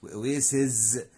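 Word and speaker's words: oases: الجرائد، oasis يعني واحة، oasis يعني واحات، بنغير صوت الاس في الاخر بنخلي صوت الزد هنا، هنا oasis وهنا oasis، national park محمية طبيعية او حديقة عامة.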